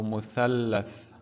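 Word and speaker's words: مثلث: So we're doubling the sound of this letter. So muthallath.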